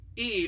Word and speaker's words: Ead: main characters is Eid I pronounced it Eid it's e-a-d now she lives kind